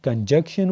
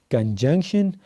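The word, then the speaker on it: conjunction: ما اوریدلی څه کسان کنجنکشن ته کنجکشن وي او انټرجیکشن ته انټرجنکشن وي. غلطي وي الټی وي. دا به وایي کنجنکشن او دا بل به وایي انټرجیکشن.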